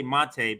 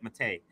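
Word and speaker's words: Maté: I know I always say Mate, but when he was on the show, he said Mate.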